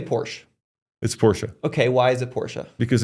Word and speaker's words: Porsche: do you say Porsche it's Porsche okay why it Porsche because in I said in German you pronounce all the letters so how do you